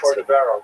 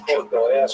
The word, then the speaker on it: Cordovero: Rabbi Moshe Cordovero, known by the acronym Rama, was a brilliant teacher. He was Portuguese. His name is actually Cordovero, but people pronounce it Cordovero by mistake.